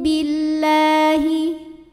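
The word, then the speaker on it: بِاللّٰهِ: Aminu billahi. Lam pada lafaz Allah dibunyikan secara tarqiq. Sebab huruf sebelumnya berbaris kasrah. Maka dibacanya tipis, bunyinya la. Billahi. Kemudian alif lamnya dinamakan dengan alif lam syamsiyah.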